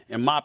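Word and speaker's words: Mbappé: Mbappe, is that how you pronounce his name?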